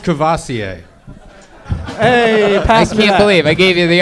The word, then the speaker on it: Courvoisier: ] so awesome god bless you hey it's pronounced Courvoisier believe I gave you the opportunity of a